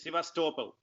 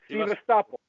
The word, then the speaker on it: Sevastopol: Yes, Sevastopol. Sevastopol. Sevastopol. So it's a soft L too, so Sevastopol.